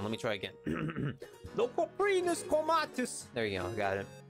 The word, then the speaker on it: Coprinus comatus: The Coprinus comatus. I butchered that. Hold on, let me try again. The Coprinus comatus!